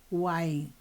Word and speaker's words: Wain: Lui era porque ele é falecido Lui William wne w se escreve w a e n bom rapidamente de